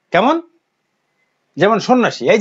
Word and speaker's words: সন্ন্যাসী: যেমন এই যে সন্ন্যাসী, উচ্চারণ কি হলো সন্ন্যাসী, এখানে জফলার কোনো উচ্চারণ নেই।